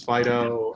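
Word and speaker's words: FD.io: really quick Fido fti oh we pronounce it Fido because it's cutesy like that I mean it gives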